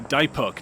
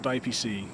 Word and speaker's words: Dipok: It's Dipok, not DiPC.